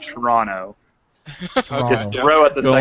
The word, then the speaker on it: Toronto: Toronto Toronto okay or if you live in Toronto it's pronounced Toronto throw at the [